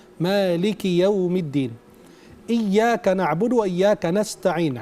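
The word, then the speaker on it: مالك يوم الدين: Kafnya kasrah, bukan sukun. Kalau dibacanya Malik Yaumiddin, berarti kurang tepat. Dibacanya Maliki Yaumiddin.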